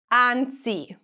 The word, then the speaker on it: anzi: The first letter is an a. The vowel a is the most open vowel in Italian. That means that you're going to open your mouth more. A. Anzi.